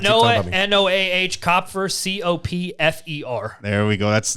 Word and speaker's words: Copfer: You see the P and the F, and people are always like, one of those motherfuckers is silent. I know, and they're not. Yeah. What Copfer.